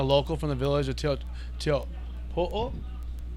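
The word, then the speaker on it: Teahupo'o: For sure, 100% a local from the village of Teopo'o, or Chopu, for everyone in the U.S. calls it.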